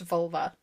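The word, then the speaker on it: völva: Who claims to be a vulva, which is an unfortunate Why is that the word? It's spelled with an O, not a U. It's still pronounced vulva.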